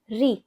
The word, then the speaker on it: ऋ: ऋ ऋ एंड जब ऋ की मात्रा आती है तो टंग थोड़ी ट्विस्ट होकर आती है।